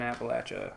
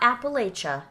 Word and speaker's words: Appalachia: how I'm say no it is it is appach it's not Appalachia it's Appalachia because if you say it wrong I'll throw an Appalachia that's how they teach it to not appalachin it's Appalachia anyway um there